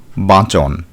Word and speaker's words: বাঁচন: এই প্রত্যয়টি ব্যবহৃত হয় অন প্রত্যয়ের উচ্চারণ অনেক সময় অন এর মত হয় যেমন বাঁচ যুক্ত অন বাঁচন এখানে উচ্চারণ হয় বয় চন্দ্রবিন্দু আকার চয় ওকার দন্তন্য অর্থাৎ বাচন গ অন্ত বিশেষণ অর্থে